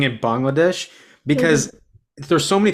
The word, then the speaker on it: Bangladesh: like, no, it's Bangladesh. So no, nevertheless, thank you so much for the pronunciation, and I do appreciate the answer because it is a very complex.